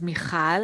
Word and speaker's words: Mikhal: me uh to this chat uh as you pronounce well my name is michal and if that's not enough so it's michal